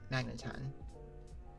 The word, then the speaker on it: Magneton: That one I am pronouncing right. Magneton.